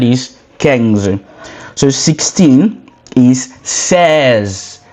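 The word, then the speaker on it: seize: So 16 is says says says.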